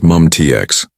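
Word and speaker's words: MUM-T: Mium TX, pronounced MUMTX.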